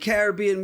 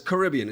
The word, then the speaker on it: Caribbean: It's Caribbean by the way. Get it right. If you're gonna say it, at least say it right. Because see, that's the problem. In the Caribbean, they start saying Caribbean because they've been Americanized. So, see, it's okay.